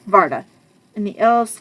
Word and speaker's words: Varda: okay there's that okay we're getting to Yvonna Varna sorry I got her name wrong varda and the elves called her because it was